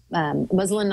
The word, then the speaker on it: muslin: Westcott Bruce Dorn reflector, which has got the muslin on one side.